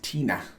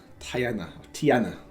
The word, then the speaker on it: Tiana: His father, is that Peter, was a decorated military officer, while his aunt Tina, why did I say it like that? Oh, it's Tiana.